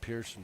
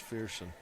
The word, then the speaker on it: Fearson: I've been saying Pearson, but it's Fearson.